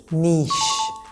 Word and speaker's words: niche: This is not niche or niche or niche. This is niche with a double E sound.